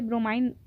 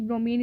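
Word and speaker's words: bromine: क्या ब्रोमीन लिखते हैं, ऐसे ब्रोमाइन भी कुछ लोग इसको प्रोनाउंशिएट करते हैं, बट मैं आपको कहूँगी कि ब्रोमीन इज़ a correct pronunciation.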